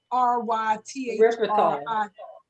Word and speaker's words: erythritol: Do all monk fruit sweetener have, and I'm gonna spell it to avoid saying it wrong, erythritol.